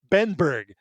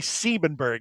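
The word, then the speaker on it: Siebenberg: And on a couple of the the albums, you'll see him credited as Bob C. Benberg, but it's actually Sebenberg.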